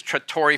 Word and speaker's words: Trattore: And the pronunciation is Trattore Farms. Trattore means tractor in Italian, because I've been building, collecting, repairing tractors my entire life.